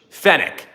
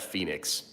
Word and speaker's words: Fenix: I read English fenick. Fe n i x. Fenix. Fenic. Not I would never in a million years pronounce that phoenix.